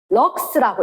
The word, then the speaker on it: lux: Lux 럭스라고 읽어.